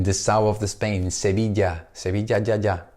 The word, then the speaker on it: Sevilla: my town in the south of the Spain Sevilla sahaja Sevilla si ma ma ma for Madrid Madrid you